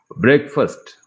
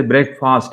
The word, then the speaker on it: breakfast: women women video dictionary breakfast many people say break fast it is not correct breakfast breakfast dessert uh it is